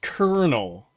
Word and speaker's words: colonel: l o n l is pronounced kernel when it's not spelled that way it's spelled colonal any